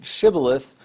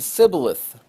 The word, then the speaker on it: shibboleth: And the people in Gilead pronounced the word shibboleth, and the people in Ephraim pronounced the word sibboleth.